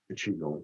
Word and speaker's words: qigong: Qigong, if you like. So that's the pronunciation, Qigong, but it's a different one.